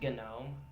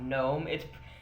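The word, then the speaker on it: GNOME: of you who don't use Linux it is pronounced genome not know MIT it's spelled like known but it is pronounced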